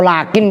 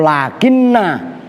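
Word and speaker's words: لكن: Kalau lakin dibaca sukun itu berarti huruf atof. Kalau lakinna nunnya dibaca fathah berarti saudaranya inna itu maksudnya.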